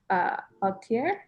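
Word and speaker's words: atelier: Altier?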